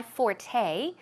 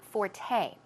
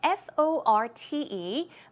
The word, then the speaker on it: forte: Make use of the word forte, okay? It's F-O-R-T-E, but it's pronounced forte. The stress goes on the second syllable, okay?